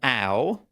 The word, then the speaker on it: Ow: Next we have Alan Ow, who says, ow pronounced as in ouch, like you hurt yourself.